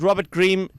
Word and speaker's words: Robert Green: My name's Robert Green, rhymes with rabies vaccine.